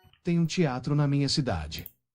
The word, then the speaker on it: teatro: Ehi, te un teatro. Ehi, temo un teatro. E un teatro. Eh, tanto teatro non è teatro però perché a volte la T si pronuncia C.